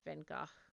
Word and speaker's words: Van Gogh: time to meet um vincent van gogh or venga to pronounce it properly and of course he's